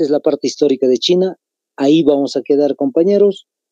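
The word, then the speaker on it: 秦: se llama Kim pero en chino no se pronuncia como en castellano pronunciamos nosotros Kim su pronunciación en realidad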